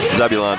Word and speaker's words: Zebulon: Number 2, Zebulon. How do you say it? Zebulon? Zebulon, yep.